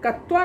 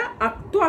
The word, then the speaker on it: अक्त्वा: चौरः दुखी भूत्वा ईश्वरम स्मरति, भूत्वा, भू जोड़ अक्त्वा, है ना, कत्वा नहीं होता है बेटा, अक्त्वा होता है, भू जोड़ अक्त्वा। क त व संयुक्त आकार अक्त्वा, इसका शुद्ध उच्चारण करना सीखिए, अक्त्वा।